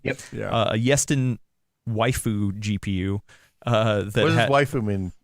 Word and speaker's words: waifu: A Yeston waifu GPU. What does waifu mean, Adam? I've never heard this term before. It's like the word wife, but then foo at the end.